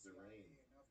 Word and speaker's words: Derain: Yeah, it's not Darian, it's Derain.